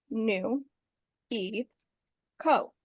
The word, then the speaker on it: Nuiko: winter is all done my name is nuo it is pronounced new e Co I am a spring